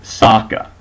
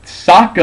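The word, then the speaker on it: Sokka: pronounced in the movie Ang is pronounced Ang uh I think qara is still qara but Saka in the movie is now sooka what why do they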